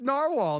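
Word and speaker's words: Nawahl: It's It's Narwhal. That's how There's no R. There's no R, brother.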